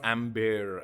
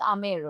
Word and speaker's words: Amer: Uh, oh, it's not Amber no, as it's Mr. spelled Amber. Major Thorn but was. if I'm not wrong, it is pronounced Amer only.